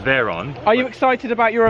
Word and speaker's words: Veyron: You say it right, it's Veyron.